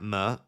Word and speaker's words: Benrahma: It's Saïd Benrahma like hammer, Saïd Benrahma.